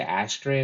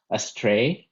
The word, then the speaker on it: astray: little grammatical thing um then i heard you say ashtray a couple of times and that should be pronounced astray uh it sounded a